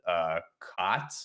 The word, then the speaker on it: khat: You know, in that operation in Mogadishu, the Somalis were taking a drug called KHAT. It's pronounced like quad.